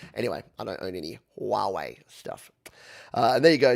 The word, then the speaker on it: Huawei: i like it uh i believe that huawei is pronounced huawei that's right i think like a wah pedal i think they're